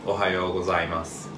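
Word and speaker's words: おはようございます: So, good morning in Japanese is Ohayo gozaimasu. Ohayo gozaimasu. Ohayo gozaimasu. Ohayo gozaimasu. People sometimes shorten it to Ohayo. Okay, Ohayo. Ohayo. Ohayo gozaimasu is complete sentence, but Ohayo is short sentence people usually use.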